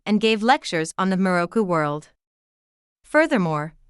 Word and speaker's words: Miroku: The English term Maitreya is written in Japanese as Miroku and pronounced as Miroku.